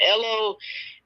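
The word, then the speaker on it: 'ello: two separate words but ello um you know is that's how they pronounce it over there um in england or in the uk right it's hello but without the h um so the phrase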